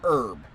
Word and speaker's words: herb: I'm so confused, because it's like, I've always heard it as herb, but it's like, everyone I've always heard is the proper way to say is herb. Without the H.